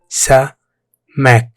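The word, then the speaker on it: سمك: Pronounced Samak.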